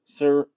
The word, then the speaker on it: Sirianni: Nick Sirianni Sirianni That's terrible.